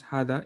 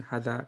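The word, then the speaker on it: hadha: Dhalika, uh, by the way you pronounce hada is there's a small alif here, meaning you don't say hada, you say hada, and you say hadihi, okay?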